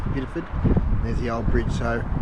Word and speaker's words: Bideford: So that's Bideford there. Bideford it's spelled, but only Bideford.